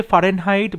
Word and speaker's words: Fahrenheit: দেখো ফারেনহাইটের বানানটা তুমি যদি ঠিক করে উচ্চারণ না করতে জানবে তাহলে কিন্তু ভুল করবে। ফারেনহাইটে একটা হয় ফারেনহাইট, এখানে ফারেনহাইট একটা এইচ আছে, ফারেনহাইট, সুতরাং এখানে কিন্তু FAH এটা বলতেই হবে, FAHREN, ফারেনহাইট।